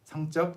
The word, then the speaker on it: 성적: Never pronounce it with the double consonant if you mean grades. 성적, grades. 성적 is sexual.